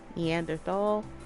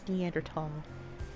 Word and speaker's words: Neanderthal: A preference, and there's no H sound when it's pronounced in French and German.